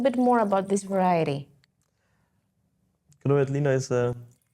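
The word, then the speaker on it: Grüner Veltliner: Yes, Gruner Veltliner, yes. The pronunciation is always very hard for me.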